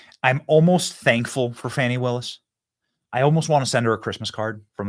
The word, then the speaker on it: Fani: It's spelled Fanny like your ass, right, Fanny? But when she became DA, she decided to add a little French, a little fancy. Fani.